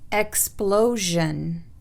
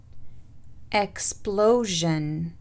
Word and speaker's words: explosion: SION تلفظ جن إذا سبقت بصوت أو بحرف صوتي، والحروف الصوتية اللي اتكلمنا عليها في البداية. Explosion. Explosion.